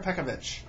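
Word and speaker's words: Peković: unfortunately pekovic has pekka is it pekovic or pekovich i've heard both i like pekovich how do you say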